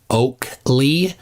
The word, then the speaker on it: Oakle: basically a nobody um the correct pronunciation is oakle uh for his last name first name Nathan um